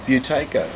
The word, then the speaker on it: Buteyko: And while this was going on, I saw the advert in the paper about the how do I pronounce it? It's a hard name. It's hard. Buteyko.